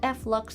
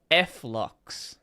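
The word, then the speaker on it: f.lux: On Windows, I use a program called Flux to make the screen more yellow. She's Did she just say Flux? Flock. I have never heard anyone say it like that. Everyone I have seen calls it flux.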